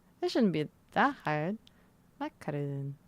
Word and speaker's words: macaron: Macaron. Macaron. Man, I've been saying it macrons for years. I've been saying it macrons. Ah. But yeah, that stuff. I'm a freaking macaron scrub. Sounds weird. Macron. Macron? Macron. I'm a macaron scrub. Scrub? Schnob. Schnob. You're pretty much saying it the French way.